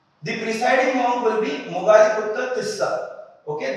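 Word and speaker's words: Moggaliputta Tissa: The presiding monk will be Mogaliputra Tissa. Okay, this is a typical Pali name. As we know in Pali, the letter R is not pronounced.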